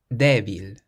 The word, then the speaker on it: débil: And then the word for week has an accent over the E. Débil.